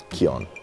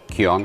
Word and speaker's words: QYON: QYON. QYON? Like a key on.